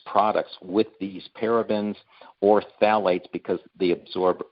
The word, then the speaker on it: phthalates: they're the worst offenders one is called phthalates now it's spelled p-h-t-h-a-l-a-t-e-s only a chemist would know how to pronounce that but it that mimics